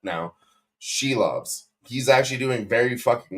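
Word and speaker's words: Šilovs: You don't pull a goalie, and I talk shit about Arturo Shelovs, and I'll pronounce his name correct now. Shelovs.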